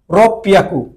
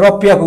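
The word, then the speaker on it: ろっぴゃく: হ্যাঁ, তাহলে কত হলো 6 রে কি বলে, আমরা 600 রে বলতে গেলে আমরা কি বলছি রব পিয়াকু, একটু ব্যতিক্রম, ব্যতিক্রমটা পিয়াকু, এটা রব পিয়াকু ব্যতিক্রম।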